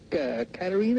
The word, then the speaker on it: Katarina: And I have a question for Katarina. Is that how you say it? Yes. Yeah.